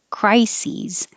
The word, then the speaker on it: crises: i crisis but plural the s-e-s sounds like c's so the first part is the same cry sees crises singular we have a